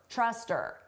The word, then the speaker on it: trust her: I don't know if we can trust her. Now here we can get rid of that h sound and it just sounds like truster. But then you combine it to the word before truster.